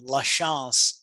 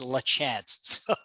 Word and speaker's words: LaChance: in europe right so in europe you pronounce my last name la chance but in florida it's lachanze my name is